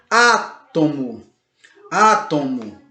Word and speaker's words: átomo: você disse a tomo percebe como a antepenúltima sílaba mais forte átomo átomo Ok então ela é